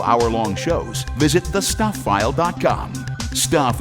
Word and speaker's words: Stuph: Stuff is spelled stup ph.